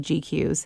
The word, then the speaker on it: GQueues: And the program I use for that is called GQs.